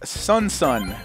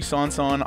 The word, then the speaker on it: SonSon: so we are taking a look at sunson or could be sonson I call it sunson cuz you know that's how it's spelled right so this is